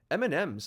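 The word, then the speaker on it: M&M's: The emphasis is not on any of the M's, but on the and, or the ampersand. Part of the statement reads, the ideal pronunciation of our brand name is such that it sounds sort of like the personal name Amanda, but with an MS affixated to the end of it, thus M&Ms.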